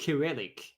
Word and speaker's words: Cyrillic: So that, and Pierre says it's pronounced Cyrillic, which really, it's the first time I've ever heard it pronounced like that.